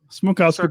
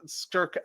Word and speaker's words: Smrokowski: Smrokowski, but you can just say. That's fine. I'm Smrokowski.